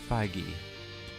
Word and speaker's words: Feige: This film I believe released it's pronounced Feige.